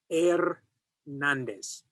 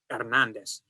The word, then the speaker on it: Hernandez: the marriage, de Andrés Hernandez. Now notice, the H is silent in Spanish, so he just left it off this surname and wrote Hernandez.